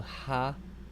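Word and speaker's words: הָאָרֶץ: Here, you notice this stress is in the next to the last syllable. So ha-aretz. Ha-aretz. Ha-aretz.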